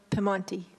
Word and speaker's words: Piedmont: At the Piedmont Room. Is that in the Piedmont Room? Is that correct? It's pronounced Piemonte.